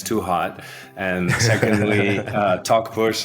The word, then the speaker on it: Talkpush: too hot and secondly talk bush is uh just the way you pronounce it talking and pushing and uh and I'm